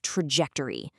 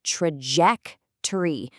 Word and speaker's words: trajectory: what's called a positive trajectory. Now, let's pause here for a quick pronunciation tip. This word is pronounced trajectory. See how the stress is on the second part, ject?